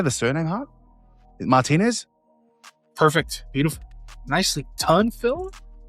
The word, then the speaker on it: Martinez: Martinez?